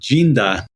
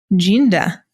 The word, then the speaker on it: Dinda: Yeah, Dinda in Portuguese is pronounced Ginda. Ginda.